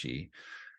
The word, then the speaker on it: qi: So the modern spelling of it is with a QI, but it's pronounced chi.